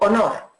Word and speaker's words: honor: Sin embargo, honor se escribe con H, pero es de las pocas palabras que la H es realmente muda en inglés.